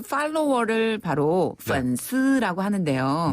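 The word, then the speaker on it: 粉丝: 중국에서는 그 팔로워를 바로 펀스라고 하는데요. 네. SNS에서 이 친구를 맺을 때 내 소식을 받아보는 사람을 팔로워라고 하잖아요. 네. 원래 팬이라는 그 발음을 중국식으로 바꾸면 펀스라고 해요.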